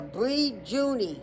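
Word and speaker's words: Brijuni: Northern Sea Coast, the the Bree Juni Islands, BR I June, like the month of June, but an I at the end.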